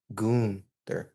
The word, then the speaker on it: Gunther: It's Goon. Goonther.